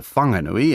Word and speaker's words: Whanganui: The name's since been corrected to Whanganui, and that's the pronunciation we're using in this podcast, although Pākehā at the time would have spelled it without the H.